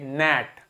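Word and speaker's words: gnat: बाद एन लिखा है तो जी को प्रोनाउंस नहीं करेंगे क्या बोलेंगे नेट क्या बोलेंगे नेट ठीक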